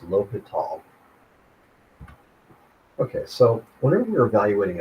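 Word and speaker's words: L'Hôpital: Sometimes lowal is spelled with an s but it's pronounced lial.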